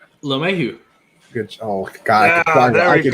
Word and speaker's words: LeMahieu: LeMahieu.